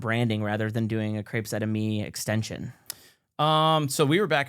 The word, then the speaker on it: Crepes Et Amis: Crepes Et Amis, yeah.